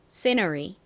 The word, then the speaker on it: scenery: scenery. 한 번 더 해볼게요. 앞부분에 강조를 빡 해주세요.